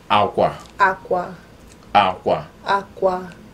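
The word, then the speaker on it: akwa: So aqua, just say like you're saying water in Spanish. Exactly. So like you're saying water in Spanish, aqua, that's cloth.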